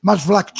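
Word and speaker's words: Maasvlakte: Como é que é a pronúncia? Masvlacht.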